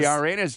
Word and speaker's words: Uranus: The Uranus jokes, exactly. The George jokes. It's spelled that way, but it's pronounced Uranus. the Greek god's spelling is O-U-R, but it's pronounced the same way.